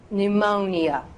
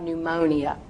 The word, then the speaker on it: pneumonia: I'm going to say pneumonia because I want you to know that there are actually that many syllables in it. But people would look at you odd if you went to the doctor's office or the hospital and go, oh, I believe I have pneumonia. Well, that is technically correct. But most people are just going to slur it together and go pneumonia, pneumonia.